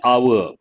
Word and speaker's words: hour: and it will take an hour here h is silent so an hour she